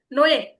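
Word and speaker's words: 뇌: এখানে কিন্তু নো ই উচ্চারণ হবে না, এখানে কি উচ্চারণ হবে? নয়ে।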